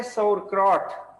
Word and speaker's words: sauerkraut: अच्छा, ये प्रोनाउंस होता है sauerkraut, sauerkraut क्या प्रोनाउंस होता है?